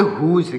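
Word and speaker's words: whose: क्या होता है घमंड डब्लू एच ओ एस इसको पढ़ेंगे हुज क्या पढ़ेंगे हुज इस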